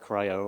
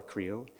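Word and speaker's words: CRI-O: of open source projects like cryo or creo depending on how you pronounce it so with that I'm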